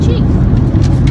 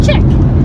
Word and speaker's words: Chic: So that's actually why I named my blog Mandy Jean Chic, which everyone pronounces it Mandy Jean Chick.